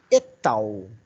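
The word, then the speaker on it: et al.: abreviada ET latim a eu pronuncio ET faço a a conjunção dela a pronúncia é etal e a coloco em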